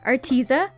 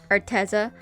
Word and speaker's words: Arteza: once again working with arteza or arteza i was never really told how it's pronounced but i've never been corrected so i'm gonna call it arteza so arteza sent me